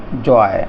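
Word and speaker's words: joy: अब जे ओ वाई लिखा है, यानी ओ वाई का प्रयोग किया गया है, तो इसका उच्चारण होगा आय। तो जैसे जॉय, इस तरह से जॉय, इसमें आय की आवाज़ आ रही है, आय का उच्चारण आ रहा है, जॉय।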